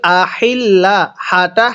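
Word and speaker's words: الأهلة: অনেকেই আনিল আহিল্লা হাটা হা পড়ি। এরকম ভাবে পড়লে পড়াটা সহি শুদ্ধ হবে না। এই গোল হাগুলো উচ্চারণ করার সময় গলার মধ্যে আওয়াজ করতে হবে। আহিললাহ এরকম ভাবে পড়তে হবে।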